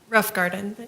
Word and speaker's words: Roffengarden: Pronounce it for me. Rough Garden. Rothgarden, okay, thank you.